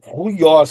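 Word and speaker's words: υἱός: Você começa falando um um u e termina com i, tá? Porque aqui inclusive tem a palavra filho, ó. Ó. E aqui, ó, ruios, ó.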